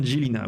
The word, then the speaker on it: Žilina: Et ça se prononce bien Žilina, oui.